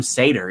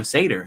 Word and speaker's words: Seder: to pronounce my name i guess technically it's sam sater isn't it because that's you know the seder right so i mean i guess it's sam sater is that how you should pronounce it same thing with yaron